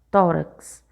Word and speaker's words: tórax: Também nós temos aí a palavra tórax. Quando você vai chamar essa palavra, tórax, certo? Então, o tó é a sílaba forte, é a sílaba tônica, e ela é a penúltima.